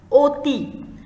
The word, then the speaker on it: অতি: দেখো প্রথম যে শব্দটা এখানে লিখেছি অতি, দেখো অধ্বনিটাকে কিন্তু আমরা অ বলি, কিন্তু এই শব্দটাকে অতি শব্দটাকে আমরা কেমন করে উচ্চারণ করি? ও এর মতো করে, অতি।